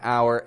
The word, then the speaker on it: hour: The word our, spelt with an H, however, does receive the pronunciation our, and it should maintain that.